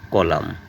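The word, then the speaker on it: column: একইভাবে কলাম এন এর উচ্চারণ নেই স্তম্ভ।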